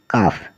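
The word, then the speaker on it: calf: रहता है तो इसमें सी ए एल एफ मतलब काफ काफ होता है बछड़ा पी ए एल एम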